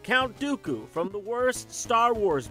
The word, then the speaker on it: Dooku: the White and the rhymes with pupu Count Dooku from the worst Star